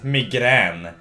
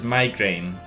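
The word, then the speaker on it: migrän: pronounced in this word this word is migran there is no actual reason for this we just pronounce letters however we feel like it so this is a hard G while otherwise it's like a soft J or something anyway this is migrain hey it's pretty simple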